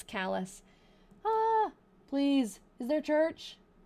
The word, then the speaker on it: Calais: It's not actually pronounced Calais, because that's how I thought it would be, and I was corrected. It's Calais.